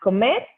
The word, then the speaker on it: comer: We don't have the ka. The sound that it's normally a and o together. We pronounce our o's like o's, hard o's. So comer, it's to eat.